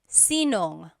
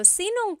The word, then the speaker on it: sinong: If you have sino ang in a question, you might hear sinong. So they put it together. So sinong kumakanta?